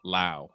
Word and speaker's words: Lowe: pronunciation up real quick brandon rhymes with now lau okay all right that's weird because same spelling other players you pronounce it low but anyway brandon lau